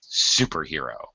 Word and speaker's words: superhero: you can see it superhero is actually uh a set phrase so uh of course I need to I need to stress super all right in this case sure I say Bob Smith superhero okay right but how